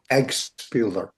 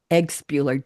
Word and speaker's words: Eggpeler: Eggpeler. Eggpeler. Just the way it's spelled.